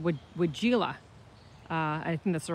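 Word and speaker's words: weigela: It's called wigella. I think that's the right way to say it. I used to say wigella, and that's wrong. You're not supposed to say the I at the end.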